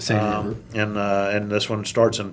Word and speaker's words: Seine: to say it right, the Seine River. Yep, the same river.